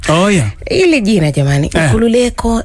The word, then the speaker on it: Nkulululeko: No, it's pronouncing like this: Nkulululeko.